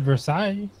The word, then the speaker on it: Versailles: it is verse either you don't pronounce the S oh I thought it